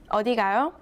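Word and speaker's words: 어디 가요: a question mark and read the last syllable with a rising tone the whole sentence means where are you going odigayo the second sentence ends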